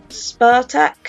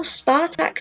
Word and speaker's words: Spartak: over Clement enough said Spartak who are Spartak a as I was told that this is actually how it's pronounced I don't I also don't see how I can't see that that was a capital K I don't know Spartak just comes more easily than Sparta K I don't know if